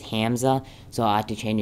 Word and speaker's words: Hamza: my name's hza and it's actually spelled h a m z but if I write that then it then whenever it pronounces it it says Hamza so I have to